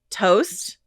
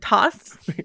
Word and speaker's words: Toast: Uh that we mispronounced his name throughout the entire uh last podcast. So Tony Toast, if you're listening, right, cuz we said toss like a salad. Like a toss salad. You said toss, Joe. I just sat here. You didn't correct me. I didn't know better, but now we do. I believe it's toast.